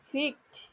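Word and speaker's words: picked: এই যে এটার উচ্চারণ কিন্তু ফিকড, এই যে কয়েট হয়ে সংযুক্ত। আবার অনেকে পয়ে সার করে, এই যে ফিকড কয়েট ইডি ই এর সাউন্ডটা ট এর মতো উচ্চারণ হবে।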